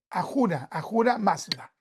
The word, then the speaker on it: Ahura Mazda: Ahura Mazda. Ahura Mazda, gracias, Paz. Entonces, Ahura Mazda. Es con H, pero se puede pronunciar J.